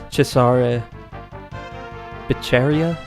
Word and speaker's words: Cesare Beccaria: Their spelling, it's possible that it's meant to invoke philosopher Cesare Beccaria. I do believe that's how the Italian pronunciation would be.